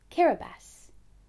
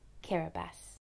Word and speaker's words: Kiribati: That's pronounced Kiribati. Let's say it together one more time. Kiribati. Kiribati has a population of over 100,000.